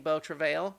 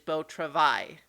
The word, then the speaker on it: Beau Travail: an interview earlier today I was also saying Bo travail apparently it is Beau travai vote to ride okay you know which is the French pronunciation I guess and so I had